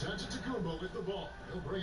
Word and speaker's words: Antetokounmpo: In the real way, you gotta say it with a D, so it's Antetokounmpo. But in the Greek way, you say it with the NT, like Antetokounmpo.